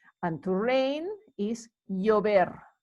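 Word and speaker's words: llover: uvia and rain is yo ver yo ver remember the v is not pronounced any different to the b it sounds like a b so uber again notice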